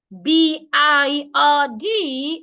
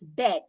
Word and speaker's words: bird: you pronounce it as bed the right pronunciation is bird did you notice something the vowel sound in that word the sound in the middle is a long sound so you need to